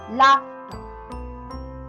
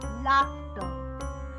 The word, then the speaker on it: laughter: Laughter. Laughter. And we used to speak it laughter. Here R is silent and and there are